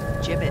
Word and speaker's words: gibbet: look ify had some gibbets left over gibbets what it's pronounced jibit are you sure yeah